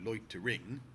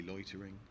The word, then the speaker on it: loitering: kind of does work, loitering is not a word that you ever stress the last syllable of. You don't go loitering, even if that's what the poem's meter requires of you.